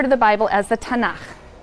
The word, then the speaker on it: tanakh: on that sheet tanakh which is really the letters and they put little a's in there to make it easy to pronounce because it's hard to pronounce so tanakh okay um and this